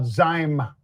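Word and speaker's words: Zymeworks: Let's talk about Zyme. Pete rhymes with mime but Z YM.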